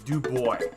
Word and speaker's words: DuBois: line 11 miles away do boys do boys do you hear me Panda do boys or actually Xavier 456 pronounce it as DuBois and you know what